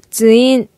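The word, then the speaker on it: ツイン: 발음에 유의 하시길 바랍니다 트윈 이 아니고 주인 주인 주인 루머 대원의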